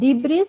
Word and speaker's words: debris: this word as deis there is not debris or something else that is pronounced as debris this is the collection